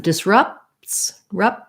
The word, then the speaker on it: disrupts: So the word disrupts has second syllable stress. This letter U says the schwa sound, sounds like ruh, like in rough. And disrupts, we don't really say a clear P there, not rupts, because we would have to make extra sound. So I kind of stop that P, disrupt. I make it by closing my lips, and then I release it into the T, disrupts.